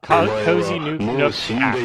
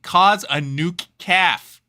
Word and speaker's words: Cozy Nook: Cozy Nook. Oh, because instead of Cozy Nuke Cafe, cause a nuke calf.